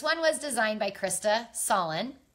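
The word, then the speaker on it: Sahlin: This one was designed by Krista Solin. I think that's how you pronounce her last name, S-A-H-L-I-N.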